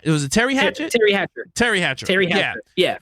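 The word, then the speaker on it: Teri Hatcher: encoder yeah um when Paris was played by ter Hatchet um did I say her name right it was it Terry Hatchet Terry Hatcher Terry Hatcher Terry Hatcher yeah play by yeah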